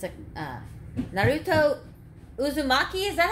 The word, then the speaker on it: Uzumaki: last name it's a it's a uh naruto uzumaki is that how you say that heart how do you say naruto's last name uzumaki yeah anyway it's a uh uh anime cartoon